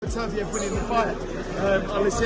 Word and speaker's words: Beterbiev: I wonder if Bivol will give Artur Beterbiev, that's how you say his name correctly, yep,